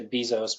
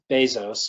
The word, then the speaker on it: Bezos: Some of the famous ones are Jeff Bezos, is how he pronounces his name. Some people say Bezos, but it's Bezos, according to him.